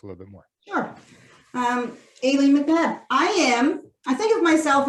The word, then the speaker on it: Aileen: I had to emphasize the Aileen because last time I said it wrong, even after you introduced yourself as Aileen.